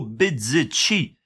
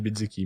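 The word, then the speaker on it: Bezzecchi: Thaïlande et c'est Marco Bzeci. Euh le Je vu comment je l'ai prononcé, ça fait pas très italien mais il est italien. J'aurais dit Bzzeki mais ouais, je je suppose aussi.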